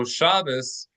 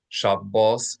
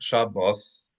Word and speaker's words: Shabbos: So Shabas is a Yiddish pronunciation of the Hebrew word shab, right? That's a Yiddish pronunciation, which is somewhat of a well, it's a corruption of Ashkanazi Hebrew. And Yiddish is not the same as Ashk traditional Ashkanazi pronunciation of Hebrew.